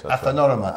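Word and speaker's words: Athinorama: Athanorama, am I pronouncing it Yes, correctly?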